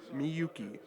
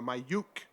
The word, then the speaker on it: Miyuki: ] up miyuki's name calling her uh my uh my yook m-y-u-k-e that's not how you say her name and that's not how